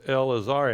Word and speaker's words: Elazar: the first syllable so it is absolutely silent and not pronounced so L AAR okay